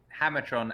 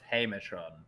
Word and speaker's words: Hamertron: I gotta wonder: is Hammertron actually pronounced Hamertron? Have we just been saying it wrong this entire time? Oh, look, I didn't know. Mark. Oh, he was Darren. Sorry, I thought Mark beat him. I have been saying it wrong this entire time. All right, because Hammer obviously has two M's and Hamer does not.